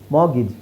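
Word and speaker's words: mortgage: ಮತ್ತೆ ಎರಡು ಸೈಲೆಂಟ್ ಆಗಿರುತ್ತೆ ಮಾರ್ಗೇಜ್ ಮಗಿಜ್ ಆಮೇಲೆ ಇಲ್ಲಿ ಎ ಸೌಂಡ್ ಏನಿದೆ ಅದು ಇ ಅಂತ ಹೇಳಬೇಕು ಮಾಗಿಜ್ ಇದು ನಾನು ಹೇಳಿದೀನಿ 250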